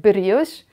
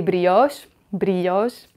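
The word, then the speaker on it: brioche: We pronounce it brios. And people who want to pretend they are Frenchy, they say bos bos.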